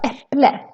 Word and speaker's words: äpple: It's written with the a with two dots, but still we pronounce it as an e, as a short version of the e. Äpple.